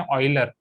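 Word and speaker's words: Euler: Similarly अगर आप foreign के वीडियोस देखोगे ई के ऊपर, तो वो उनको प्रोनाउंस करते हैं ऑयलर।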